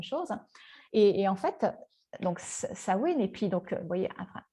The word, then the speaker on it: Samhain: Le prochain qu'on va voir, alors ça s'écrit Samain, certains disent Samain, ça se dit Samhain.